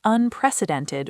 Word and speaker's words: unprecedented: Notice how Jessica pronounced unprecedented with stress on the third syllable.